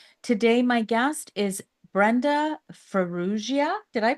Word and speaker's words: Farrugia: and lifestyle Queen today my guest is Brenda fuia did I pronounce that right you did you did I